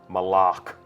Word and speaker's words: Malak: Malak. Right. Official pronunciation confirmed. So Malak.